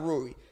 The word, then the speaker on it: Rui: Rui.